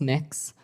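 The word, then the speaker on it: Mx: what you're you're proposing it's pronounce mix um mix is that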